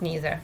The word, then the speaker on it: neither: Neither is usually pronounced neither, but can also be pronounced neither.